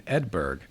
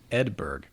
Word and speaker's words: Edberg: toward fernhurst castle in edberg not edinburgh edberg which is a forlorn neighboring hamlet so not a big